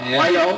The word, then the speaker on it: Wajong: Kalau nanti IMS April jalan di Expo Kemayoran, Indo Club Championship, Om Denny Wayong, Om Denny Wajong bacanya ya, Wayong, Om Denny Wayong, pengen bikin apa nih kejutan nanti di IMS kalau boleh jalan April tahun ini Om?